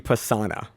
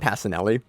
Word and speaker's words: Pisana: Gabby Pisana, not Passanelli.